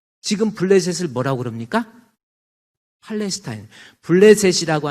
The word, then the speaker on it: 블레셋: 블레셋이라고 하는 히브리적 발음, 영어 발음이 팔레스타인이에요.